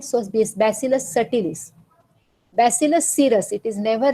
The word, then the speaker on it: Bacillus subtilis: Even though it is subtilis, B is silent, so this Bacillus subtilis. Bacillus cereus, it is never read as cereus. It is cereus, so Bacillus cereus, Bacillus subtilis, Bacillus clausii, and Bacillus halodenitrificans.